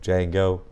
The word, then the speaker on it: Django: The V is silent, like Django. The D is silent.